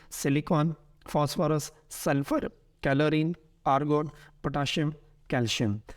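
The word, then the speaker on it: potassium: इनको सीन के साउंड से भी पढ़ा जाता है और असल प्रोनाउंसिएशंस यही हैं, जैसे मैग्नीशियम, पोटेशियम एंड कैल्शियम। लेकिन हमारे यहाँ एशिया में चूँकि इन्हें शीन के साउंड से पढ़ते हैं तो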